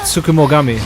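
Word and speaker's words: Tsukumogami: Sukum Sukumoami, that's how you say it.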